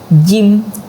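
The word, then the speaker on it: ج: Jim, pengucapan jim gitu ya. Kayak kita lagi nge-gym gitu, jim.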